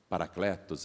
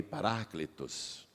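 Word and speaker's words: παράκλητος: palavra e a palavra em grego é paraclitus nós falamos parakletos aqui no Brasil é mas em grego a pronúncia mais aproximada é essa que eu te falei paraclitus e eles viram a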